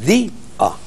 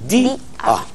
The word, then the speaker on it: día: O sea que es di-a, no es ya, es di-a.